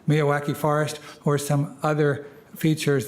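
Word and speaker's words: Miyawaki: native plant Meadow a MIAA I'm sorry I always pronounce this wrong M me Mia wacky so that's it Mia wacki forest or some other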